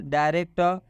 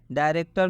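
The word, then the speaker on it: director: आप देख लीजिए एग्जांपल डायरेक्टर डायरेक्टर में भी आप देख सकते हैं कि डायरेक्टर में भी ओ आर एक साथ में आया जब भी ओ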